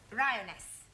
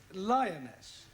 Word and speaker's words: lioness: of the following lion roness lioness roness no l l r r you're not saying it right very sorry I know